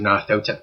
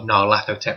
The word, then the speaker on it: Nyarlathotep: for a bunch of guys, there's a Mask of Nyarlathotep campaign, or Nyarlathotep, depending on how you want to pronounce it.